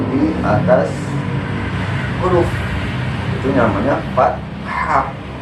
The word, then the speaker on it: fathah: Itu terdiri dari fathah, seperti ini, fathah, kasroh, sama dhammah. Nah, fathah itu bentuknya seperti garis miring yang ada di atas huruf. Itu namanya fathah. Jadi bukan fatah, tapi fathah.